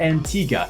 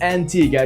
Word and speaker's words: Antigua: Resorts throughout the region onto the island of Antigua yes the pronunciation is Antigua not Antigua as many would commonly think local